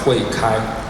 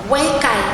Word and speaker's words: 慧開: In Chinese, pronounced as Huei Kai. Huei Kai se pronuncia.